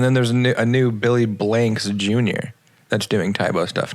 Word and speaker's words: Blanks: saying is this blinks dang i was thinking banks oh it's billy blanks that's what i'm saying dang i apologize billy